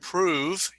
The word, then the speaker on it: prove: word and the word prove you don't pronounce the e the e is silent so it's the last